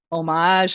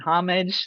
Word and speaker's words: homage: So this is really an homage and homage. That's another word we can butcher because it can be pronounced a million different ways, to this art form,